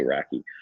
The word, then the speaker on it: Racki: show yawn and the the name is actually Croatian so it's Haruki is technically how it's pronounced but we always just say Rocky yeah I guess my